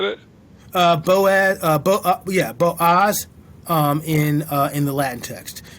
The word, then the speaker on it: Boaz: It's Boaz. Is that how you said it? Boaz.